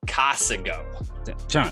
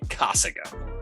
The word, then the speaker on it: Casago: you mean casago no I meant casingo that's not how you say it you gotta get our